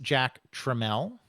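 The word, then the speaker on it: Jack Tramiel: Um, and of course that name is pronounced Jack Treml.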